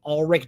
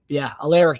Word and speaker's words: Alaric: I think his name's Ulrich Jackson, I believe his name is. Alaric Jackson. There you go. Yep. I am totally butchered his first name, but yeah, Alaric Jackson from Iowa, plays